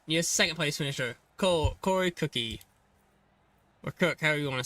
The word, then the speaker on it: Cook: It's Cook. It's Cook. Corey Cook.